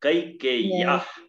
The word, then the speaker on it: कैकेय्याः: अब देखो यहाँ दो यो है और दोनों का यदि स्पष्ट उच्चारण कर लिया तो ये बहादुरी है, संस्कृत का प्रोनाउंसिएशन सही कर। हाँ कैकेय्याः, कई में आई की उच्चारण स्पष्ट, एक उच्चारण, पितुर वचन निर्देशात कैकेय्याः प्रिय कारणात्।